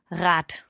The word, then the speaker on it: Rad: Yes, it's when it is a short vowel before the last consonant, then the consonant has a hard pronunciation. For example, Rad.